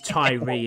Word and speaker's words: Tyree: the offensive, kicking a tires on tire. Yeah, exactly. I don't It is Ty. Yeah, but it's it's Tyree, isn't it? is how it's how it's obviously pronounced, but it does look like tire.